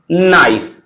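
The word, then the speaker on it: knife: इसे कनाइट ना पढ़कर के को साइलेंट रखेंगे। पढ़ेंगे नाइट नो नाइफ।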